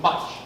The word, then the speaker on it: Mutch: Mutch.